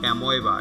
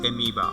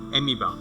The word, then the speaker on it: amoeba: Okay, it's not amoeba, it's amoeba. Okay, the pronunciation of it is amoeba.